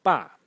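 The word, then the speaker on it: 爸: The next character in this series is pronounced ba in the fourth tone, and it is father.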